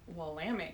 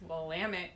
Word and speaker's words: Willamette: went to school in willamette county it's willamette dammit not willamette that's not people there were like posters it's willamette damn it so you